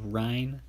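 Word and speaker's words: Ryne: one right here another silver all right ryan stanic spelled r-y-n-e ryan hopefully i pronounced that clearly enough and using the guy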